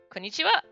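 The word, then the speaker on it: こんにちは: cat just like uh konichiwa has the same thing where it's actually ha at the end and not wah but it's pronounced well so i'll write it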